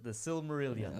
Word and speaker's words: Silmarillion: That's how you pronounce that? yeah, that's the Silmarillion.